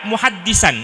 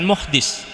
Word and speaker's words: muhaddis: albazdawi al-Hanafi itu ada muhaddisan ya. Ada seorang ahli hadis, anna muhaddisan kanat adatuhu. Ada seorang ahli hadis, muhaddis. Bacanya bukan muhdis. Kalau muhaddis itu ahli ahli hadis.